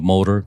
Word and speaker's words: MOTER: By the way, I want to say MOTER is spelled M-O-T-E-R because everyone, of course, wants to say MOTER. Right, and that's not a misspelling, actually.